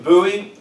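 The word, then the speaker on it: Buie: Colton Bowie, spelled B-U-I-E, which I didn't know that's how to spell that, but with a name like Cocannouer, I told him don't worry about it.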